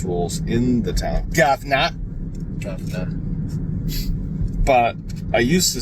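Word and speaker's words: Gouverneur: And if you ever saw how it was spelled, you would think the same thing that it's definitely pronounced Governor.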